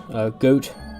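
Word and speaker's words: Gyorg: The boss of this dungeon is Goat, or Got, depends on how you pronounce it. I believe it's Got, but others say Goat, so to each their own.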